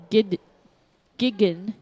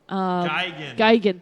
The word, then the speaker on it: Gigan: They are playing with Of Wolves, The Ever Scathed, and Gigan. Geigen, thank you. Morgan tried to pronounce it. I'm and not she good failed at miserably.